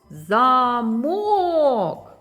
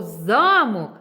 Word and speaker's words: замок: склад тут наголошений замок другий склад діти Слово замок і замок складається з однакових звуків. Але що змінює значення слова? Так, це наголос, замок. А якщо ми змінимо наголос, то замок.